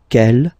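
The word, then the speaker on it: quelle: And the good news is that you will pronounce them the same way. All right, so quel, quel, quel, and quel.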